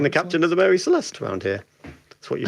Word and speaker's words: Celeste: And clue 10, my name rhymes with molest.